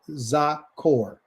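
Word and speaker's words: זכור: So the first word that he tells us right here is called zakore. You can see right here above the word zakur right here. That's how you pronounce it.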